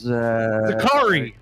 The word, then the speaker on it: Zakri: have probably butchered that hold on zakari no SS this is zakari very Safari zakari zakari zakari car right like that going on Zachary's Zachary's